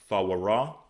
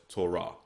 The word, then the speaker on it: Torah: So here you have the Torah, okay, which we pronounce Thawarah, okay, but in modern Hebrew it's pronounced as Torah, or Masoretic Hebrew it's Torah, okay.